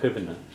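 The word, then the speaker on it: chuimhne: Ina chivna. Okay, Pam? Kivana is memory, right? Yeah. Chivna is memory, yeah. Is that 3 syllables?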